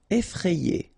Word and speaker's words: effrayé: Effrayé. Okay, remember, double F, so you open the E, so E, effrayé.